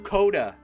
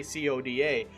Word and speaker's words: Coda: all the way through Coda. Yes, I said Coda this time. I didn't say CODA, because I guess that's the proper way to say it, is Coda.